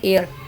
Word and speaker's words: heir: एयर जो है मिले, एयर, HEIR, इसको हम हेयर पढ़ते हैं, हायर पढ़ते हैं, तो इसकी प्रोनाउंसिएशन है एयर, ताकि इनका जो एक एयर है वो इनको मिले। इसमें H भी साइलेंट है और R भी साइलेंट